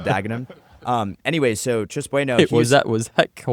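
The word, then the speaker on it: Dagenham: When I said Doggenham instead of Daggenham.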